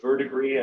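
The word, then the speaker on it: verdigris: to a copper green it's a verdigree I believe is the proper French pronunciation um but the the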